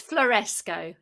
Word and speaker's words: Floresco: with the pronunciation it's fluoresco it's like tesco but yeah okay yeah that's it yeah floresco trailing limited yeah so